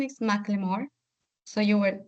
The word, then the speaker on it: Macklemore: So the pronunciation is Macklemore.